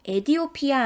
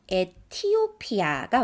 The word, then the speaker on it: 에티오피아: 에디오피아 아니고요. 에티오피아가 맞습니다.